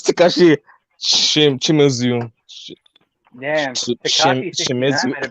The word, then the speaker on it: Takashi Shimizu: Okay, Takashi 69. What? No, that's Takashi Shimizu.